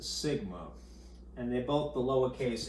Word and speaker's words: sigma: This is pronounced mu, and this is pronounced sigma, and they're both the lowercase incarnation of them.